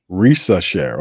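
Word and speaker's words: Risacher: If Trae Young and the Hawks start poorly, first overall pick Zachary, how you pronounce his name? Rishar? Risasher. Okay, there you go.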